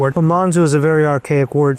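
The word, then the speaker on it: monzù: it to be called Monsure but they couldn't pronounce Monsure. So Monsure became Monzu and then from Monzoo that became synonymous with head of kitchen or chef.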